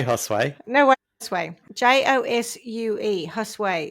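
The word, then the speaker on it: Josué: Josue is how it's said in Spanish.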